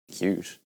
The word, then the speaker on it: Qt: Cute. Yeah, you know, Qt. Oh, you mean Qt? No? Pretty sure it's pronounced Qt.